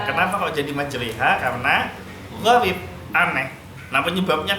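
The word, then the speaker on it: مجراها: Gharib kan enggak ada tulisan Bismillahimajroha, tapi dibacanya Bismillahimajreha. Kenapa kok jadi majreha?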